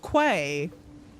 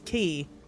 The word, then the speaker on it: Quay: This isn't pronounced Quay. For anyone that this is not pronounced Quay. It's never pronounced Quay. This is key.